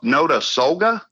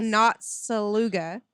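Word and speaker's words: Notasulga: got some tongue twisters i've noticed no no to solga but it's spelt n-o-t-s-u-l-g-a right it's it looks like not saluga yeah that's exactly not saluca yeah got it it's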